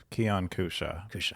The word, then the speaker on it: Keyan Kousha: be here yeah uh Keon Kusha yeah I let I'll let people pronounce my name wrong for years so uh if you feel like you have my name wrong please ask me I uh was working with someone recently for a few years and they called me key and and and I just never corrected them close enough yeah anyway this I